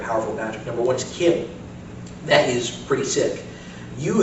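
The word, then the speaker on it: CHIM: Um, so in addition, I'm going to talk about um Kim and Chararmat. Kim is spelled C H I M is the idea that we've also got the zero sum.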